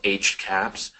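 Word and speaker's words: HCAHPS: actually it is so it's pronounced HC caps and this is that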